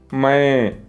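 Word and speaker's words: मैं: நான், மை, மை. பிராக்கெட்டில் ஏதேனும் வார்த்தைகள் கொடுக்கப்பட்டிருந்தால் அதை பாதி மாத்திரை அளவு உச்சரிக்க வேண்டும். எழுத்து வடிவத்தில் எழுதும்போது மைன் என்று எழுதுவோம். அந்த இன் சைலண்ட் ஆகி இங் வடிவத்தில் உச்சரிக்க வேண்டும். மை.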